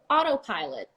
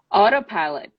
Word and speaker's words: autopilot: you know that would be more the fastest pronunciation the more you know idiomatic so you go autopilot autopilot automatic automatic automobile automobile which is the same